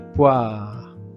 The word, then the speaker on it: poires: Le O et le i se prononcent toujours wa et ne pas prononcer le e et le s final. Donc ce sont des poires.